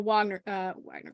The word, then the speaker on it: Wagner: So the Wagner Group, for example, I want to pronounce it like a German, the Wagner Group in Russia, which is their big mercenary company.